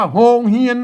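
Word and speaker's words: โรงเรียน: ที่ 2 นะ ครับ เขียน ว่า โรง เรียน นะ ครับ แต่ อ่าน แบบ ภาษา ล้านนา อ่าน ว่า โฮง เฮียน นะ ครับ อ่าน ว่า โฮง เฮียน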